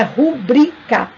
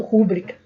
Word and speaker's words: rubrica: seja o acento gráfico o acento agudo prosódico é no i né então nós temos aí a força no ir na segunda sílaba uma palavra paroxítona que